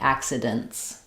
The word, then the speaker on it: accidents: So it might sound a little bit more like accidents.